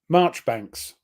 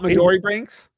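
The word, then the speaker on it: Marjoribanks: by the way this chap here yep it's pronounced March Banks not majori banks no even though it looks like majori banks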